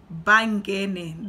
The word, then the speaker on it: Bangene: Well, yeah, I am that person too, but the way you're supposed to pronounce my last name is Bangene. That's how you say it.